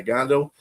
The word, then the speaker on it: Gandil: Yeah, Gandil.